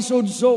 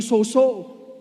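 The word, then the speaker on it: σῴζω: Ang tamang pronunciation po ay sozo, kasi ang ibang pastor na nadudulas nagiging soso. Tama? Pero ang right pronunciation sa Greek is zozo.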